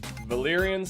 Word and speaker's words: Valyrian: valan steel valan steel is yeah very nice Valyrian steel very good someone told me you guys